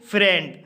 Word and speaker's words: friend: जैसे फ्रेंड, फ्रेंड शब्द में आई ई आया है लेकिन आई ई का उच्चारण ई ना होकर के ए हुआ है।